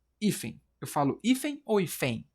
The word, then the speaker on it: hífen: Eu falo hífen ou hífen? Eu falo hífen. Portanto, a sílaba tônica é a penúltima.